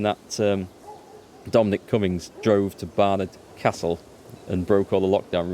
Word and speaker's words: Barnard Castle: And all the because it's just up the road from me, all the flipping news reports were called it Barnard Castle. Well, no, it's Barnard Castle. You got it wrong.